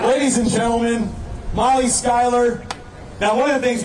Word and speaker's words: Schuyler: Dan over here keeps going, Schuyler, because of how it's spelled, and I just want to make sure I get it right.